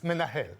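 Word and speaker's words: מנהל: For instance, if they associate that menahel, a man from hell, okay?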